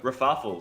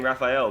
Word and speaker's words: Rafafel: Rafafel. Sorry, I think before I was saying Raphael, but it's actually Rafafel. So I got the name wrong before, but these guys,